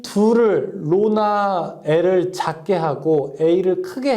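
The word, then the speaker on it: ρ: 로 A분의 L 이렇게 쓸 수 있습니다. 자, 여기서 이거 읽을 때 뭐라고 하냐면 로라고 읽어요.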